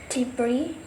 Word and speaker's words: debris: For example, island, debris. In this word, the letter S is not pronunciation vocally, even though it is present in the writing of the word.